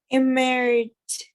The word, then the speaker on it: emerged: Emerged. Like a final D.